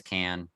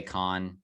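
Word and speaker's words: Cann: I don't know how you say it. I think it's Can. But I say Can. Some people say Con.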